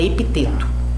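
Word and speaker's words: Epicteto: é epiclete epiteto epiteto eu acho que você fala epiteto se escreve epi epi C teto a arte de viver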